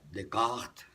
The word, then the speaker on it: Descartes: del racionalismo lo decía de cort se pronuncia en francés decía el propósito de